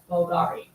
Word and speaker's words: Bvlgari: The name Bulgari is often styled with a V instead of a U like in this logo, but it's still pronounced as Bulgari.